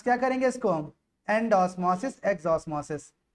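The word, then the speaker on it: endosmosis: आपकी बुक में ये दिया गया है, तो प्रोनाउंस क्या करेंगे इसको हम, एंड ऑस्मोसिस एग्ज ऑस्मोसिस, है ना।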